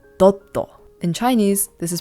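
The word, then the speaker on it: ドット: Japanese this is pronounced doto in Chinese this is pronounced d and in English this is pronounced dot the Japanese pronunciation is Katakana which means that it is adapted from English thus you can hear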